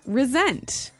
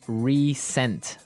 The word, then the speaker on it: resent: Resent. Okay, now this is spelled exactly like resent, like with an S, right? That's right, R-E-S-E-N-T. But you pronounce it like a Z.